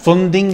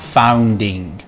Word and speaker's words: funding: video alessandro i love you but funding is pronounced funding and not founding funding and another little message to samwell please